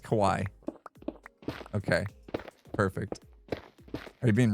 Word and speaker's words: Kawhi: But Kawaii. Kawaii. It's just Kawaii.